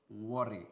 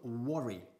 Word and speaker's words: worry: Ojo, muy importante, la pronunciación de la palabra worry, o el verbo worry, ¿ok? Se escribe worry, y de hecho se suele pronunciar por estos lares worry, ¿ok? Pero no, decimos worry, ¿ok?